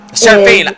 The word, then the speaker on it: Seraphine: Seraphine! Ah! I was waiting for you to I catch always add that extra syllable.